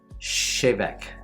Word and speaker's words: Tè Bheag: Chevek. Chevek. The sweetness is stronger with the water. Give it a quick. Colloquial expression used in Gaelic when requesting a wee dram. Okay. Chevek.